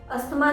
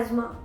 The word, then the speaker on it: asthma: अस्थमा की बीमारी है उन्हें, तो अस्थमा नहीं होता है, एज़मा। इसका सही प्रोनाउंसिएशन है एज़मा।